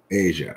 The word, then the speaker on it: Aja: of time but agile is also um pronounced asia isn't it yeah the cdn album is pronounced uh asia yeah that's what i thought because my dad